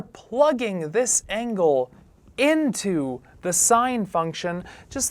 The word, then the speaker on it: sine: This is written sine, but this is pronounced sine, but written sin Theta.